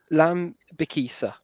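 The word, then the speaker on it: Lembikisa: trying all day mate lamb bikisa there we go just just think of kiss at the end let me kiss her let me Kissa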